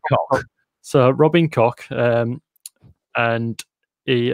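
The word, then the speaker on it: Koch: Right, I don't know how you pronounce this, but it's spelled K-O-C-H. So it could be pronounced Cock, or it could be Cock. Pronounced, yeah. I'm going to go Cock.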